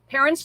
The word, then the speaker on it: Parin: What Parin, is that how you prefer your name to be pronounced? Good, Parin.